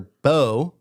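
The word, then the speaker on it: Beau: Biden and his older brother, Bo, is that how you say it? Yeah, Bo.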